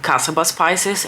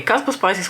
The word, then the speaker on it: Caspa Spices: the shade Caspa Spices, which for the longest time I was calling Casaba Spices, and it took a few of you actually pointing out that it's spelled and pronounced differently than what I thought.